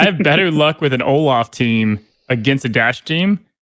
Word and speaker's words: Olaf: Nordic for treasure, and is pronounced Olaf, as in laughing, referring to his role as comic relief, I guess.